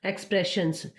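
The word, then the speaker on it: expressions: बोल रहे हैं, और यहाँ पर डबल एस आया है तो इसको ज नहीं बोलेंगे, इसको स ही बोलेंगे। एक्सप्रेशंस, बेशक ये वोवल के बीच में आया है, ठीक है, ऐसे इसको प्रोनाउंस करते हैं।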